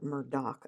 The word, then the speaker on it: Murdaugh: And then I saw one about the Alex Murdaugh case and or Murdock, I guess is how they pronounce it, even though it's spelled A U G H.